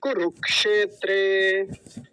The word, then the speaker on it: कुरुक्षेत्र: अगला वाला जो है कुरुक्षेत्र कुरु कुरु कुरक कुरु के बाद क बोलेंगे फिर क्षेत्रे कुरुक्षेत्र ठीक है और एक